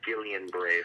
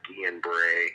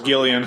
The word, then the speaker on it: Guillain-Barré: Looks like Guillain-Barré for those that are listening, but I think it's pronounced Guillain-Barré. See, I thought it was Gillian.